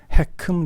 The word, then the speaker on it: HECM: 이렇게 일반 은행이 아니고 정부가 개입하는 리버스 모기지의 정식 이름을 HECM, 읽을 때 해큼이라고 읽는데요. 해큼 리버스 모기지라고 부릅니다.